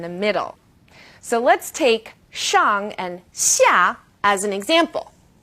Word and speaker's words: shang: And this one's a bit tricky because the initial SH is pronounced like sh is in English. X is somewhere in the middle. So let's take shang and xia as an example.